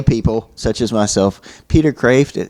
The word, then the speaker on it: Kreeft: but like for lay people such as myself, Peter Kreeft, it's pronounced Kreeft.